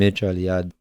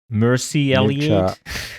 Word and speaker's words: Mircea Eliade: And Mircea Eliade is actually Romanian originally.